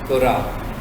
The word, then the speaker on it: Quora: मैंने नीचे, मैंने कहा था इस पर क्लिक करना है, ये फोरम में कोरा, स्पेलिंग बोलो, QUORA, कोरा।